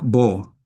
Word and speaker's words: Baud: En el caso de Jack Bo se escribe B A UD, pero es un eh periodista suizo, se pronuncia B Jack B.